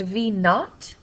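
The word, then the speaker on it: v₀: for final velocity and this V zero is pronounced v naught is the initial velocity over time so divided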